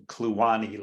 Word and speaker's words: Kluane: And I have ongoing research programs, dunes in the Fraser River and hyperpycnal flows in Kluane Lake. So that's how it's pronounced locally.